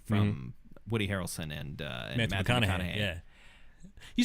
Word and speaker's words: McConaughey: And fantastic acting from Woody Harrelson and Matthew McConaughey. Yeah. You said his name right. Yay! I think I did. Yeah. I don't think I added the extra Matthew syllable. McConaughey.